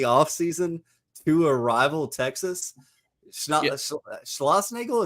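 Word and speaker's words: Schlossnagle: Schlossnagel, is that how you pronounce it? Yeah.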